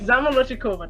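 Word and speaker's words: Zamolodchikova: and finally katya zamalolo zamalochkova katrina kova yes zamaloshikova that's how you say it where is she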